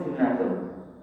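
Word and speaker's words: جُنَّةٌ: Jadi junnatun itu tulisannya pun jim nontak, bacanya pun junnatun. Wonten itu wonten jannatun, wonten junnatun, wonten jinnatun. Sama-sama jin, sama-sama nun, sama-sama tak. Kalau kita baca keliru baca, artinya pun keliru.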